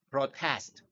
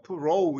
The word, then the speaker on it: protest: 그 다음에 저항하다, protest. 이게 pro, 단순하게 이제 어발음을 하는 거예요. pro 이러지 말고 protest.